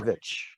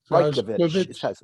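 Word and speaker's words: Brajković: new election director, Brajkovic. Did I get that right? Am I close? Thank you. Thank you. Rajkovic. Thank you, sir. Rajkovic is how it's pronounced.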